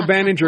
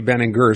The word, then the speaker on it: Baenninger: Well, I was going to go Binger because that's the obvious, but I've heard all our newscasts call you Ben & Gur. So, I I'm assuming that's the correct pronunciation.